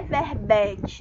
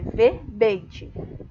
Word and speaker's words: verbete: Não é verbete, não, é verbete. Tá bom? Som fechado do segundo E.